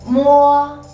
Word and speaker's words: mo: Number 3 is mo, mo. Mo is a bilabial initial, but it's a nasal sound.